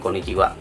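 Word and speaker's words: こんにちは: atau selamat siang kok Konnichiwa jadi dieja dengan huruf konnichi hak tetapi dibaca dengan Konnichiwa karena ha adalah partikel pernah topik gunung yang dipakai dalam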